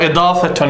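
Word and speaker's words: إضافة: Idafa. Or idafatun, if we're going to pronounce the ending.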